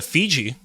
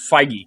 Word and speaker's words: Feige: they'll both go to Fiji if only if this movie was good it would end in Fiji but I don't think it's going to it's pronounced feige Kevin feige oh yeah Kevin island